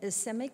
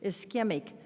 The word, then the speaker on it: ischemic: right through this foot of the is is semuc what is the I'm sorry I'm doing the wrong pronunciation ischemic stroke and having had that myself and being